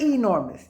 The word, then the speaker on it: enormous: the word is enormous now you see that e it's not a long e and you'll hear sometimes you'll hear people say enormous but it's not enormous it's like an elephant enormous okay so let's say the